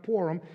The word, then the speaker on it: Purim: It's pronounced different ways with those with different accents, but it's pronounced PURIM.